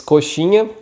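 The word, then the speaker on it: coxinha: the name is koshini the x here sounds more like a s h in english so koshi and the last syllable this sound nya is the same sound as you can find in the word lasagna so should be pretty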